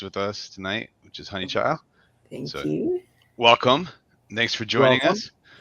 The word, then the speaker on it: Honeychile: they always pronounced it honey chili people do that yes but see we're down south i'm in north carolina right so it's honey child y'all y'all yeah yep